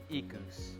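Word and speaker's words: Equus: Hyundai hey how's the boy thousand thirteen Hyundai eCos you say it like that okay well this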